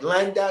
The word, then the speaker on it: Landau: how do you say that I was like glendow Eugene Murphy Jr they like okay yes oh